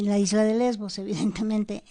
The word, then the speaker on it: Lesbos: Tú pones ahí se escribe así lesbos para que sepan, porque no se escribe como suena. Es L mayúscula, E, S mayúscula, V, V mayúscula, O mayúscula y Z mayúscula.